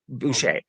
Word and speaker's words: Boucher: familiar with anthony boucher e-o-u-c-h-e-r is how it's spelled it's boucher but he straddled both